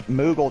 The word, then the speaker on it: Moogle: Why were you saying Mute? Where'd you get Moogle from? I don't know, I don't remember how to pronounce the name. It's Moogle, Joe. 2 O's.